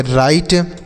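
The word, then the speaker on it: right: RIGST इसे हम पढ़ेंगे राइट, RIGST राइट।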